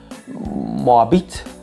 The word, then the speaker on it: Moabit: Come cazzo si pronuncia? Impossibile. So, French kids in Schönenberg and Tiergartenbertel. Yes. And Moabit. Yes, Moabit. That's what it was. Moabit, sure, for sure.